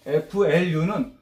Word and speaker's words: flu: 요거는 뭐냐면 FLU는 플루. 따라서 해보세요. Flu. 그 F 발음은 윗니로 아랫입술을 살짝 문 상태에서 푸 발음하는 거예요. 플루가 아니고 선생님 입술을 보세요. 플루 이렇게.